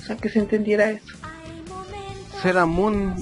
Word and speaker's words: Sailor Moon: Seramun es su pronunciación original, o sea, correcta.